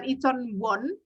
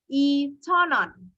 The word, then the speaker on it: 원: Tapi cara bacanya adalah 2,000원, ya, bukan 2,000won, tapi bacanya seperti orang Korea itu pronounce-nya adalah 2,000원. 2,000원이에요. Jadi 부kan W-nya seolah-olah hilang.